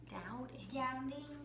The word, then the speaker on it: doubting: That B is silent. You don't have to pronounce the B. Doubting.